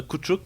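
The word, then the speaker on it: Koutchouk: Ouais, relativement, parce que je prononce un T qui est peut-être pas là avec le Chuk Chuk, là. Kouchouk, peut-être. Ouais, Kouchouk, peut-être.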